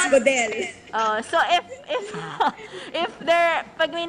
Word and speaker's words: Godel: Godel. Godel. Oh, yeah. Yes. Very Pinoy. Correct. Matigas, Godel.